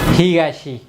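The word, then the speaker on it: 東: Tokyo, তাহলে এটার মূলত উচ্চারণ হচ্ছে হিগাশি, আর টোকিওতে এটা তো।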